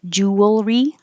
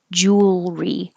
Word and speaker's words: jewelry: You don't make it three syllables like jewelry. Make jewel, push it together, and make it one syllable. Jewelry. And you need time to go from the L, jewelry. Curl your tongue back for the R.